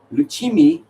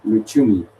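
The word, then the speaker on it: Lucumí: Lucimi is injured. So if they go through, we have to see if he can play. Lusumi, sorry. Snel terug. Als Zwitserland opslaat, is die Lankas. Luchumi.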